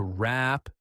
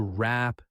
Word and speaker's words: wrap: To wrap things up. to wrap things up. Notice that the W at the beginning of the word wrap is not pronounced.